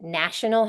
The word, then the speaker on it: national: sounds different nation national nation has a long a national has a a short a sound right so pointing these